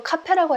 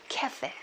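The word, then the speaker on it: café: 저도 카페라고 했다가 못 알아듣더라고요. 캐페. 그렇죠? 캐로 발음을 합니다.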